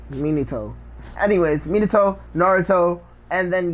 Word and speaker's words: Minato: true me neato neato he never pronounces the pronounce Manito Minato anyways Minato Naruto and